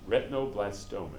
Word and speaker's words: retinoblastoma: Okay, so here's this protein, retinoblastoma is how it's pronounced.